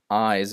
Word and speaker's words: eyes: distinctions there it's that eyes is pronounced with a z but it also has a slightly longer vowel than ice which is pronounced faster